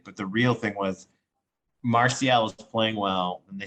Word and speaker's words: Martial: And Martial, gotta be proud of me, I'm pronouncing that correctly.